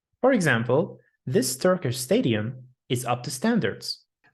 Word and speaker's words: Turkish: Don't say them like burgers, Turkish. Make sure not to add the extra u sound. It's Turkish. Turkish and burger. Burger. That's right. Let's check some words that rhyme with them. Turkish rhymes with burnish and chish. And burger rhymes with worker and further.